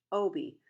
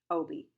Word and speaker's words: Obie: But it was spelled the same as my real name, Obie, which was what you might say if a yellow jacket wasp showed up. Oh, bee, Obie. A weird name, maybe.